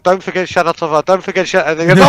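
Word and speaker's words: Shana Tova: I was like, don't forget Shanatova, don't forget Shanatova.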